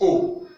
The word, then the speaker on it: au: The first one is O. Don't forget, in French, AU sound O.